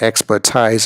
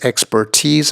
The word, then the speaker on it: expertise: to be sure its expertise in the manner of please cheese knees Chinese Japanese rupees okay excellent so again expertise the the emphasis on the last syllable T's not expertise we're number seven is